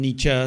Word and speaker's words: Nietzsche: gonna go ahead and this is from Nietzsche and some pronounce his name Nietzsche so whichever you prefer that's okay with me whoever fights the monster